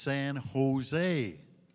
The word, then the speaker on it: San Jose: I said, down to San Jose. He said, you a hockey player? I said, yeah, how did you know? Well, he said, stupid. California, you don't pronounce a J. It's San Jose.